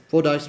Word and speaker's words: Fordyce: Fordyce.